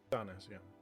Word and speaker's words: Cynis: you're gonna have to remind me how to pronounce his name again. Cynis. Cynis, yeah. Cynis.